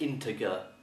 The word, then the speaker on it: integer: number to the nearest integer and the word is spelled i n t e g e r and some people pronounce it integer mistakenly okay so this is integer and an